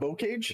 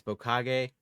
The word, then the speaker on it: Bocage: You can pronounce Demyansk correctly, but not Bocage. It's Bokage, and I won't hear any more on it.